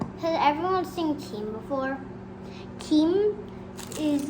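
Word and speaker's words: 김: Kim is like a seaweed. Kim, that's how you say it in Korean.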